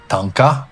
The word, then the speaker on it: Thangka: And today is our last day in Shangri-La, and we're going to do a really cool activity which is called Tanka.